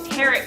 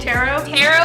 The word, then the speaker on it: tarot: to like And subscribe teret card um inspired runway show where they had life-sized ter cards is that how you say it tarot card not carot it's t